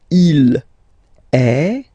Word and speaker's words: est: So you can notice that even if we write them differently, this E like that and E like that, we pronounce them the same way.